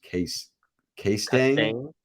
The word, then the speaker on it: Castine: Oh, he did say my last name is pronounced K-Stang. Castaigne. Oh, Castine. Oh, K-Stang instead of Castine.